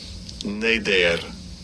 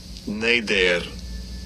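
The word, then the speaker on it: נֶדֶר: And it is H5088, and I'll give you a pronunciation of it. Strong's H 5088. Neder, Neder, and second entry, Neder, Neder.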